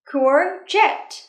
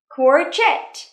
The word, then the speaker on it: courgette: Courgette. Từ này khá là khó phát âm nha, bạn chú ý nhé. Courgette. lại nhé. Quartet. Trọng âm rơi vào âm tiết thứ hai nhé.